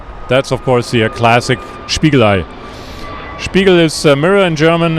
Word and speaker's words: Spiegelei: Spiegelei.